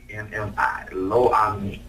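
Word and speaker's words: Lo-Ammi: Lo-Ami. And then my damn spell check gonna spell it low ammo.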